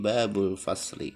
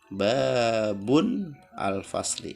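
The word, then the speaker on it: باب الفصل: Babun, pintu, ketika bersandar dengan isim, kan isim ma'rifah menjadi babul fasli. Tidak boleh dibaca babun al fasli karena tanwinnya hilang, karena dia bersandar kepada isim ma'rifah al fasli, jadi bacanya babul fasli.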